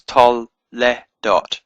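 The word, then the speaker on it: תולדות: So it's tol le dot. It's a very short eh sound and then dot.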